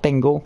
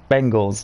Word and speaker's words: Bengals: am I saying Bengal it's not Bingle it's Cincinnati Bengals yeah I believe a